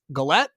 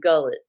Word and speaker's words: Galette: proper introduction Harmony is is it galette yeah yeah say I'm sure I pronounced it right unless you're in Kentucky my family in Kentucky would say gullet and if you're in